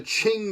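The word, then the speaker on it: Qing: towards the end of the Ching dynasty which of course you spell that with a QQ ing the Ching dynasty and the Ching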